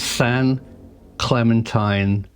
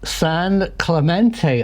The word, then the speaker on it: San Clemente: briefs and Michael blaisdale both told me that I should pronounce the island San Clemente Island thank you very much